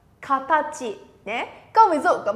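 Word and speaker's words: 形: Sẽ đọc là katachi, đơn giản đúng không? Minasan sẽ nó katachi, katachi nhé.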